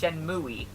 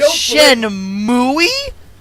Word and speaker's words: Shenmue: Just like how people tried to convince him that it was pronounced Shenmue.